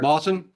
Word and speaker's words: Moss: Moss. Yes, Mr. Moss. There's moss in the trees.